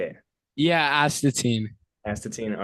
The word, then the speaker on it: Astatine: all right what's up guys I'm here with atine band from Los Angeles California is that is that how you say it how do you say it yeah atin atine all right bet so uh first thing if